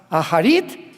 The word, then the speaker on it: Acharit: el futuro, que son las palabras Aharit Shanek en el hebreo. Se escribe Acharit, A-C-H, tal como suena.